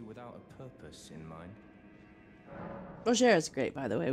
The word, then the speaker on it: Rogier: Rogier is how it's pronounced, I guess.